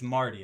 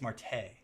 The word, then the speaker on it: Marte: Marte, I believe that's how you say it, because I don't think the E's there for no reason. And I don't think it's Marty. I think it's Marte.